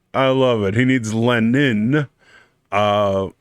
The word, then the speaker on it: Lenin: love it he needs lenin uh or in how russians would pronounce it would be leenian lenin um but he brings